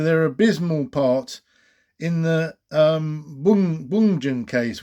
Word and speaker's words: Bjugn: abysmal part in the Bungen case, which is spelt Bjugn. Can't pronounce Norwegian properly, but sounds like Bungen case, where a vast number